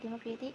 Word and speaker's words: democratic: The word democratic is an example of a stress shifting suffix. The base word democrate carry its primary stress on an earlier syllable, but when the suffix "ic" is added, the stress pattern of the changes. The main stress moves to the syllable immediately before the suffix, resulting in the pronunciation democratic. This shows that the suffix